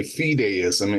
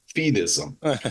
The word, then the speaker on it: fideism: and by the way, they give us two ways to pronounce fideism. And what I've been doing, and I guess I got into the habit, is I've been pronouncing it this second way, fideism, and I noticed that you pronounce it fideism. And so but either one is okay, is what our authors tell us.